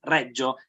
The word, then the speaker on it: Reggio: or is it the problem is the surname because every language has a different pronunciation but the correct one is redjo is also the name of the city so okay no I